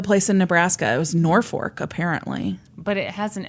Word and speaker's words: Norfolk: It was Norfolk, apparently.